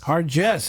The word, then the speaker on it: Hargis: I'm joined by my good friend, Ethan Hargis. Is it Hargis or Hargis? Hargis. Hargis, excuse me.